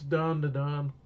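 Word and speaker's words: Dandadan: And I'd be like, no, it's Don. That's how you say it.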